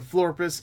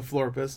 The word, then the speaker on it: Florpus: the teaser trailer for invaders in enter the Flores enter the floor pissed let me say it right and this of